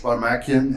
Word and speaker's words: Baramakian: well and staying safe my name is varmakian and i work for minnesota mining and manufacturing